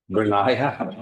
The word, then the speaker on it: Brenya: It's, let's see, Brenya. It's what? Brenia. Okay, so it's 3 syllables in it.